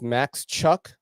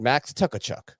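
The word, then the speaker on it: Max Tkachuk: pronounce this dude's name I think it's Max Chuck that's how ltk pronounces it but when I first heard of them I said max tuckachuck but that is um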